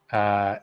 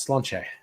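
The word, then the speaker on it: Sláinte: But if you've ever seen that toast, Slainte, it's not slaint, it's slanche.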